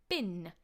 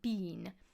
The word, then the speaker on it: bin: So, for example, bin will be bin, not bean.